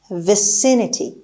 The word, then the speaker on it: vicinity: اولین کلمه امروز vicinity. خب همونطور که میبینید استرس روی صدای س یا حرف سی هست.